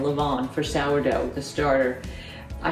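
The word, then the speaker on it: levain: for seven years and I still didn't know if I pronounce the N or not Leon Leon Leon just say it with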